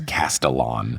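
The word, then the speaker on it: Castellan: on this podcast before, the officially approved pronunciation of Luke's last name according to Rick, which is Castellon, which that's how I said it when I read the book.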